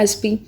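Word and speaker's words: SP: उसी तरह एसपी, एसपी क्या है? एस पी, ठीक है। तो एसपी में एस लगाया आपने, ठीक है, ए लगाया, प्रोनाउंसिएशन में ए क्या है? एक वावल है, वावल होने के नाते यहाँ पे एन लग गया।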